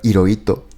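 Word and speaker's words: Hirohito: Claro, yo me presento como, porque ito es mi apellido y en español la H no se pronuncia, realmente esojito. Hiróito, pero hay una H. Bueno, primero hay una H primero. Hiroito, eh, si no se pronunciara la H.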